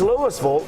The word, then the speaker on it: Louisville: It's not in Kentucky. That's Louisville, but it's spelled exactly like Louisville. Right. But it's Louisville, and I would say